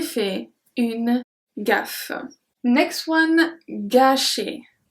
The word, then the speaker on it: gâcher: Next one, gâcher. Gâcher. Because of the accent circumflex, we pronounce it longer.